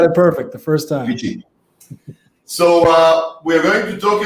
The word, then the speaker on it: VICI: How do you pronounce the name of the startup? You got it perfect the first time. VICI.